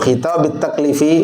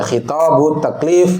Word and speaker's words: khitabit taklif: khitab, yaitu khitabut taklif, ini dibacanya khitabit taklif yang rajih ya, padahal dari qismain. Kalau mau dibaca khitabut taklif boleh, tapi antum harus mentakdir ahaduhuma khitabut taklif gitu.